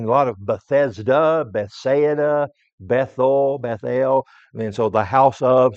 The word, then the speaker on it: Bethel: We would pronounce it Bethel. Maybe a correct pronunciation, it would be Bethel, because it's really two words. The word Beth means house, and the word El is an abbreviation for Elohim, God.